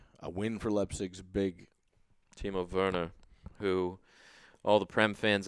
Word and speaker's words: Werner: It's spelled Warner, but obviously he's German, so it's Werner. Werner.